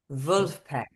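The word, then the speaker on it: Vulfpeck: It's spelled like so Wolfpack, but say it with a German accent. Wolfpack.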